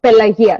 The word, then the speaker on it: Pelagia: So, my name, a Greek name, is pronounced Pelagia. So, like you say, yin, yes, yin, Pelagia.